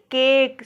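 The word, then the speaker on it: cake: वैसे देखिए केक, सी ए की केक, केक, इसको केक पढ़ा जाएगा, ई का उच्चारण यहाँ पर भी नहीं हो रहा।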